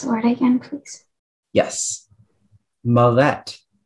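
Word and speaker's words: millet: please uh yes i can mollet okay the malette is defined in terms of religious affiliation with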